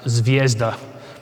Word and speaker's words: Zvezda: green one which is starts with a z and then a v is pronounced zvezda but they're all quite